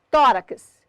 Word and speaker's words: tórax: Tórax, sílaba tônica de tórax, tó.